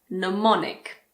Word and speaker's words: mnemonic: If you're learning languages, you might be familiar with mnemonic. The first M is silent.